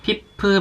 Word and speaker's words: FIF: 제가 정말 좋아하는 마스크팩, 피프 마스크팩이에요. 요거는 FIF라고 읽더라고요.